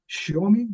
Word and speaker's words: Xiaomi: One example, Xiaomi, I don't know how you pronounce it in Chinese. Xiaomi, did I say it right? Xiaomi, yes.